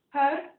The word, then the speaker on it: Har: So H-A-R, Had, and we'll take the tip of our tongue, press it against the roof of our mouth, and then Hare.